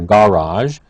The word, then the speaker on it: garage: okay again laundry room a note about the word garage a garage is a place where you keep a car or a truck or a vehicle there is an alternative pronunciation a garage it can be pronounce either way for those who are